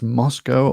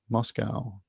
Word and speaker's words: Moscow: a russian spy honest americans say cow uk says co that helps me not